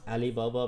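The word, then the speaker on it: Ali Baba: It's pronounced Alibaba because foreigners can do the Ain sound.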